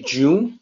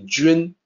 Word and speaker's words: 君: you look at that you might say june like the month or jun based on the way that is spelled but it's actually jin it's a little tricky to sound out for a native english speaker what it means is